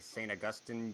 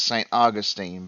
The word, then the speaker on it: Saint Augustine: Peach and we're going down the line okay Saint Augustine United States and it's actually pronounced Saint Augustine but yes that is the U.S um Nancy